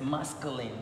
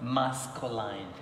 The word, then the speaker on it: masculine: The correct pronunciation of this word is masculine. There is no diphthong here. Masculine, not masculine.